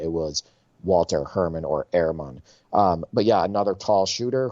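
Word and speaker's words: Herrmann: Next on my list is Walter Herman, or how it's pronounced, I believe, is Ehrman.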